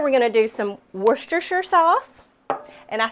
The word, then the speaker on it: Worcestershire: So in here we're going to do some Worcestershire sauce.